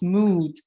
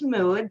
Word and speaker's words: Müd: well, we write Müd, M-U-D, modular, and it's pronounced Müd Modular. So I'm really curious about your business name. What do you do and who do you help? Absolutely. Well, it is Müd.